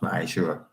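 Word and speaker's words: מעשר: It's 10th in the Hebrew and it's pronounced Ma'ashura.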